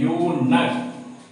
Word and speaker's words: eunuch: अगर फिर आप लिखते हैं यूनक, EUNUCH, यहाँ हम लोग इसको पढ़ते हैं यूनक। यहाँ EU जो है YU या यो द्रुगर यू का साउंड दिया, इसलिए ये यूनक।